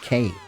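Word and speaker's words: Peregrin Quay: I also think it should be pronounced quay, but in the cutscenes they always pronounced it K.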